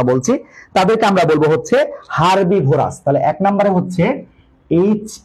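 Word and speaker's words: herbivorous: ঘাস লতাপাতার কথা বলছি তাদেরকে আমরা বলব হচ্ছে হারবিভোরাস তাহলে এক নাম্বারে হচ্ছে এইচ ই আর হারবি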